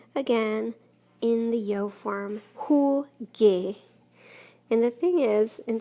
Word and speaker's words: jugué: So we add that U in there, it becomes jugué. Not jugué, because that's not a sound that we use in Espanol, but jugué.